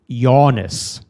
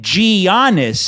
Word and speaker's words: Giannis: my problem is that his name is not gianis it's Giannis oh yeah well when you start talking I want to yanis oh I see I was pronouncing it ganis as in G you're aing [ __